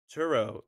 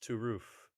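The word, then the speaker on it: Turów: well to zero who's whose name is turo is pronounced to roof is it you're the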